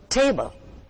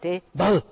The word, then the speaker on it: table: Take the word table. It is not table, it's table. The stress is on the first part, table.